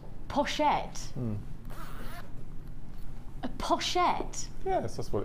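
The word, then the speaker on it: pochette: e p o c it's French it's French for pouch poset it's French for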